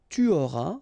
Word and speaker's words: tu auras: J'aurai, tu auras, final S not pronounced, il aura, elle aura,